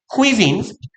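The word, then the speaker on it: cuisine: in contrast 대조적으로 the most likely lightly spiced quizing 가장하게내어 가볍게 sp이스ed 향신료가 들어간 조미된 얘는 쿠이진이라고 읽으시면 돼요.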